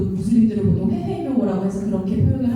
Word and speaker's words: 무슬림: 정확한 명칭은 아니고 아까 김영훈 연구원님 말씀하셨던 것처럼 무슬림 정확한 발음이고 정확한 의미로 어 전달이 됩니다 그리고 여자